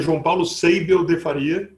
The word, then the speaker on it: João Paulo Seibel de Faria: Meu nome se pronuncia João Paulo Seibel de Faria.